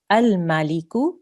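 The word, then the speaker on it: الملك: We need to put a fatha on the alif because the next letter is a lam. So we will pronounce this al-Maliku.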